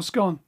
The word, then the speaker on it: scone: pronounce it, scone or scone. Tell the Americans, because they don't know. Go on, whether it's scone or scone. You tell them. Well, they're pronounced scone until you eat it, and it's scone.